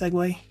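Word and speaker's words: Segoe: why not SEO UI I think this is supposed to be pronounced segue I don't know Ariel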